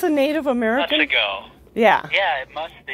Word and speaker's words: Otsego: It's Otsego. I guess it's a Native American. Otsego.